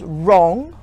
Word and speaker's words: wrong: worried with a W such as wrong where the W is silent and with an H